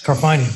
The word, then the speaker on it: Carfagna: Next is Carfagna. I'm part Italian. Did I get that right? Yes, Carfagna, rhymes with lasagna.